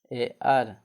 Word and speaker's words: heir: Next है कुछ words में H का उच्चारण ह न होकर कुछ और होता है।